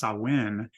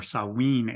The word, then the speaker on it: Samhain: means Summer's end and is pronounced sawen in Gaelic or saween in Welsh sawen is a celebration